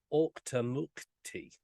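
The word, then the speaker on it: Auchtermuchty: in the town of OCTA mukti and that is the pronunciation I did check that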